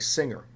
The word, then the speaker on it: singer: tell you the answer when a word ends in nger and it's derived from a verb that ends in ng didn't you get a soft G like singer but when the word that ends in nger is not derived from a verb that ends in ng then you get either a hard G like finger or a kind of medium G like plunger or danger now when you get that